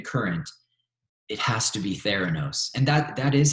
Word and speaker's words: Theranos: that into even current it has to be ther anos and that is how you pronounce it by the way I for a long time I was like Serrano's like I had no idea how to pronounce